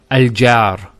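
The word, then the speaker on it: الجار: we pronounce this as al-jaar so notice the sound beginning al which in english is called a glottal stop ah is actually the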